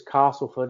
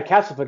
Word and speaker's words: Castleford: the fact she says Castleford instead of Castleford has any... I actually say Castleford because I always go with the locals. If they say it that way, that's how you say it.